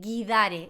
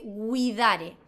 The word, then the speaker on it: guidare: Ejemplo, es el verbo manejar, no se dice guidare, se dice widare.